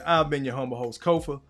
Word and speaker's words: Kofa: Once again, I've been your homo host Kofa Ko FA not coffee, not Kufu, not Kofi, or any variation thereof. Kofar rhymes with sofa.